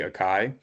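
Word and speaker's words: açaí: thing we found was asai or aai I guess depending on um I'm I'm not sure how Texans pronounce assai I say asai but I think some people say aai um these aai berries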